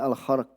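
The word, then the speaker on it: الخرق: Padahal ini naudzubillah minal, yang bacanya al-kharq ya, bukan khuruk, al-kharq.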